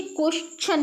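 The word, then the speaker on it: question: ठीक है, यहाँ TION आया है तो हम इसे क्वेश्चन पढ़ेंगे, क्वेश्चन नहीं पढ़ते हैं। क्वेश्चन जो प्रोनाउंसिएट करते हो आप, ठीक है, आप जो क्वेश्चन प्रोनाउंसिएट करते हो वो गलत प्रोनाउंसिएशन करती है, इसे क्वेश्चन पढ़ते हैं।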